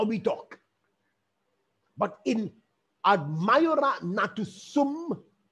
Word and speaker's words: ad maiora natus sum: And this Latin phrase is pronounced in this manner: ad maiora natus sum.